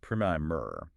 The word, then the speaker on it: primer: If you were talking about a small, informative introductory book, it's pronounced primer.